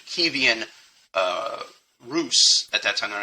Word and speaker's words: Kievan Rus: I'm going to make sure I pronounce it correctly. by the Ukrainian pronunciation, Kievan Rus, at that time they're